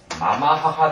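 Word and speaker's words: 継母: 계모는 그럼 뭐라고 읽을까? 계모. 그래와 마마하하 데스. 마마하하.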